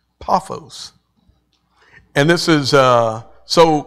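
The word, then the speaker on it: Paphos: and it's uh the word is um uh pronounced p a a f o ws paos paos and this is uh so he comes to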